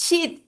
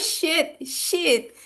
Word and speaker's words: sheet: I need your sign in this sheet sheet sheet, not shit."